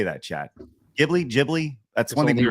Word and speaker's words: Ghibli: Jibli. That's one. Only one right way to say it's Jibli. Jibli.